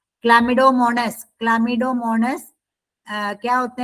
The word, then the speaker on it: Chlamydomonas: क्लामिडोमोनस. इसका प्रोनाउंस करते हैं क्लामिडोमोनस.